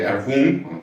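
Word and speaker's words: Erewhon: de Samuel Butler, eh, de Erwun, como la pronunciación correcta de de esta novela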